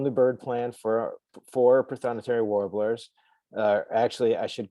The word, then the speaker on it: prothonotary: bird plant for four prothonotary warblers uh actually i should call them pronunciat i should pronounce it correctly it's actually prothonotory warbler although nobody pronounces it that way um but here you